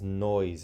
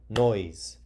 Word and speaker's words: noise: noise let's see mmm Oh silent E so you would this doesn't say noisy even though you see the e when the word has two or more syllables but that Y says e like no easy it would have to be a Y so right now it just says noise and it's one syllable noise okay and then again the S sounds like a Z because it's on the zipper card okay and can I